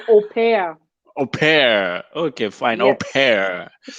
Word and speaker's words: au pair: It's au pair. You pronounce it as au pair.